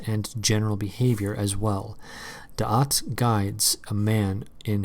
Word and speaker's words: da'at: And da'at is, it's D-A apostrophe A-T, so I'm only pronouncing it da'at because I have no freaking clue how to pronounce it, and I don't want it to sound like dot.